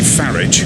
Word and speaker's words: Farage: rise of Nigel bloody farage rhymes with garage and the fascists and